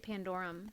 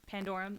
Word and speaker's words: Pandorum: Oh, I would say it Pandorum, Pandorum, like that makes more Pandora's sense.